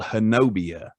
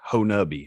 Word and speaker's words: Honobia: It's spelled Honobia, and that's how I've been pronouncing it for weeks now. But I actually just seen a pronunciation guide on it, and it's pronounced Honubby. I don't know how they get Honubby from Honobia, but I guess it's just a colloquial thing there.